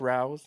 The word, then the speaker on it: Rao's: It's pronounced Rao's marinara, RAO, the jar.